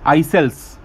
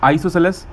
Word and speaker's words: isosceles: Some people pronunciate this as isocels, like different pronunciations they have. Okay, so if you want to go for the exact pronunciation, it's isosceles, or you can also